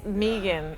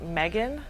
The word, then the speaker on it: Megan: pronounce it is like pronounce it with two E's even though there's no two E's okay so most of the time people when they first hear it they think Megan but and I'll answer